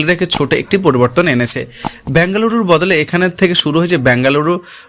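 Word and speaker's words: Bengaluru: বছরের যাত্রায় ফাইনাল জিততে পারেনি কোহলিরা রয়েল চ্যালেঞ্জার ব্যাঙ্গালুরের থেকে কেবল ব্যাঙ্গালুরু শব্দটা বাদ পড়লো তবে শুধু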